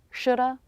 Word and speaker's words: shoulda: it these reductions sound like natural American English shoulda woulda coulda shoulda woulda coulda these three words